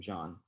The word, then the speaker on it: Jean: JEAN : OK, thank you. Thank you for everybody in this panel. My name is Jean, but you can also pronounce it as "Jeen."